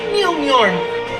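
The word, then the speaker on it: Mjölnir: When Cap says go, hit his shield with Mjolnir. It's pronounced Mjolnir.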